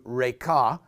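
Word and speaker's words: Raca: say to his brother raqqa it's actually pronounced in Hebrew Reika shall be guilty before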